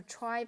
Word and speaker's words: trie: So try pron pronounce try. It's a tree like data structure that can compately store string. The name comes from the word retrieval which index it is designed for the string retrieval operations.